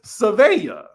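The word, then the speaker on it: Sevilla: Um, it's Sevea, right?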